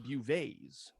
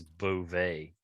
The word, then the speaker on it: Beauvais: Garcelle Bouvet's. How do you say it? Do you know? I think it's Beauvais.